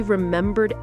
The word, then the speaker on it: remembered: It was difficult but he remembered everything he studied. Difficult difficult. Stress on the first syllable. Remembered rembbur stress on the second syllable.